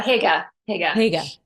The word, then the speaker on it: hygge: But I do think you talk about the coziness, and I won't pronounce that. Is that Hygge? How do you say? Oh, yeah, Hygge.